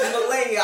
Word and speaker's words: Melania: He gonna be saying it wrong. She gonna be like, no, that's not how you say it. Shit, if you get it right, it's Melania.